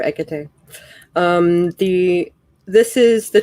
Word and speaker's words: Hecate: not like a tea how do you say it egg tay i was gonna say i've heard it like several different ways hecate yeah yeah i call her ekate um the this is